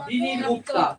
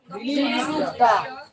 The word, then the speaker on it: বিনির্মুক্তা: গচ্ছন্তি অনাময় এখানে উপরে র থাকার কারণে এখানে র উচ্চারণ করবা বিনির মুক্তা বিনির মুক্তা বিনির মুক্তা